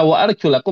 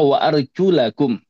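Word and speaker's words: وَأَرْجُلَكُمْ: Karena cara bacanya wa arjulakum ya. Waarjulakum.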